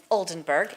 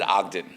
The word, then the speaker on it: Oldenburg: You got her name wrong. He got her name wrong. I can say it. He got her name wrong. Her name is Sue Oldenburg, and he said something. I don't know. I said Ogden.